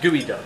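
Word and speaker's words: geoduck: fish you ever had so it's spelled g duck G EO duck it's PRC duck gooey pronounced gooey duck what is this what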